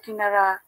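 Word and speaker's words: قَ: কারণ কাফের উপর জবর থাকলে আমরা কা বলি, জের থাকলে কি বলি,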